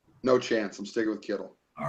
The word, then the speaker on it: Kittle: misspell and Miss like pronounce Kittle yeah I've gotten Keitel I've gotten um people just randomly throwing s Sonic Kittles my high school put